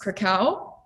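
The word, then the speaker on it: Kraków: But yeah, we will be flying into, I believe it's pronounced Krakow, Yeah.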